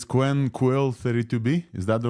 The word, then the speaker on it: QwQ: it in the blog it is just like the word quill yeah yeah because for for the qw you can like qu and for the Q and you're just like the U so I just combine it together and create a new pronunciation called quill yeah so we're saying